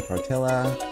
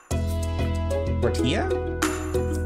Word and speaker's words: tortilla: browns bread aini a torella a spaghetti hold on stop right there oh my gosh this is a sin what tortilla tortilla yes that's how you say it uh tortilla radish